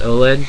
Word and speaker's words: OLED: don't correct me on saying oled it is pronounced oled go to virtue's website and bite me because